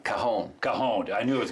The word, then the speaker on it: cajon: And so if you look at the word cajon, which is C-A-J-O-N, the J is silent in Spanish because cajon means box or drawer in Spanish.